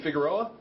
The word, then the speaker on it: Figueroa: And the other guy is Joey, is it, you pronounce his last name Figueroa?